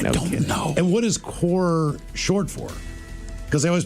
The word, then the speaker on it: Corps: if you look like it looks to me like it says Marine Corps, Yeah. Yes. Corpse. but it's Corps.